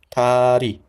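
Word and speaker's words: 다리: Ta, li or ri, ri. Which one? Of course, tari, tari, right? Not L. Tari.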